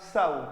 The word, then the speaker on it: sow: सव।